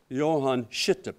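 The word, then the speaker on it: Johan Skytte: to pronounce this correctly, Johann Schitte Prize. Most people don't pronounce it correctly, but that's what it's called.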